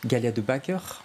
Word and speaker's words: Galia De Backer: Galia, Antoine, Galia de Backer, je prononce bien, ça va?